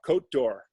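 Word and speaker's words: Côte d'Or: always get it wrong oh uh it's uh cote d'or oh code and it's spelled c-o-t-e i'll put the spelling up on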